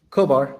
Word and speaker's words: Kobar: Did I pronounce that correctly? Kobar.